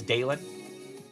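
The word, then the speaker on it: Dalen: My name is Dalon. D A L E N like Dale plus N.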